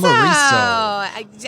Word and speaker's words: Humareso: We're going to go into our next guest here, John Baldino from Humareso. Excellent. Did I say it right? Yes, awesome. Humareso.